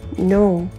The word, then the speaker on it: know: 맞는 패턴, Let me know 요거에서 no 다시 한번 발음해 보겠습니다. O 요 발음으로 발음해 주시면 되는데요. O 라고 생각해 주시면 됩니다. 그리고 너무 길지 않게 발음해 주셔도 되니까 살짝 짧고 굵게 발음해 주세요.